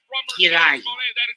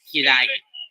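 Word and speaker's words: 嫌い: For those wondering what the word of hate is in Japanese, it's pronounced Kirai. Kirai.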